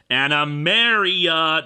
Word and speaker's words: Animaria: 1, you mispronounced it. Animaria, not Maria.